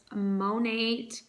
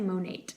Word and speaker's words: Monat: I have been using the Monat, I'm gonna say Monat because I don't know, I hear people like on YouTube pronounce it Monat. I'm gonna say Monat, but there's no E at the end.